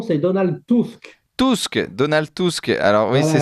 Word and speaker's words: Tusk: Vous êtes Je commence peut-être par la prononciation, c'est Donald Tusk. Donald Tusk. Alors oui, Voilà. c'est ça. On a envie de dire Trump d'ailleurs, Donald Trump, mais c'est Tusk.